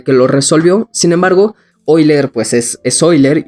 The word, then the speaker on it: Euler: esto es que y después por hoy leer verdad que se escribe euler pero dice la leyenda